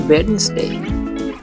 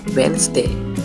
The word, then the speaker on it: Wednesday: this word not pronounced Wednesday the correct way is Wednesday the D is silent I have a meeting